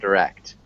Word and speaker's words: direct: Yeah, it's kind of like a short U sound, direct. Direct. Um, you can say direct. It sounds more like British English. Generally, we would say direct, the direct Direct. cause. Like direction. Direction.